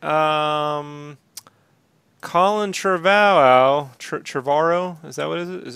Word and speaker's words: Trevorrow: nonsense right um Colin Trevorrow Trevorrow is that what is it Trevorrow so how you pronounce it revoir au revoir oh rich why don't